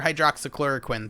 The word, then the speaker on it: hydroxychloroquine: don't pronounce it correctly just remember yes queen and then you'll know exactly but no but to